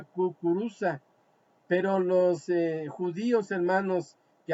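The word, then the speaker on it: кукуруза: La palabra maíz en ruso se pronuncia kukuruza, pero los judíos, hermanos, que habitaban en Rusia no la podía pronunciar correctamente, alabado sea el nombre del Señor.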